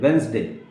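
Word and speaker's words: Wednesday: वेंसडे, नॉट वेडनेसडे, वेंसडे. Okay, आज के बाद आप क्या बोलेंगे? वेंसडे. डी नहीं आपको बोलना है, डी लिखना है लेकिन बोलना नहीं है.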